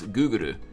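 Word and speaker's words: グーグル: I know that the Japanese pronounce Google as Guguru, as you know, it's literally like a foreign word to them.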